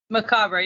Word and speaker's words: Macabre: to mcab how you doing today maab yep yep you got it right yeah I